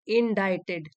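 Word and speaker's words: indicts: revise कर लेते हैं हमारा फर्स्ट वर्ड है इनडाइज सी साइलेंट है इसमें इनडाइज विच मींस अभियुक्त यह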